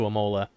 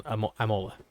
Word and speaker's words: Imola: is loosely based on amola amola mola i guess if it's italian not italian it's probably imola not imola i guess you don't say it like a hard eye but yeah so i